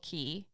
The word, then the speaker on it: Cay: of people I mean me and immediately say Cast Away K that being said or say whatever right so a k also spelled key both pronounced as quote key is a small low Island consisting mostly of